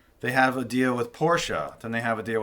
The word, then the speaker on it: Porsche: I think the correct way to say it is Porsche.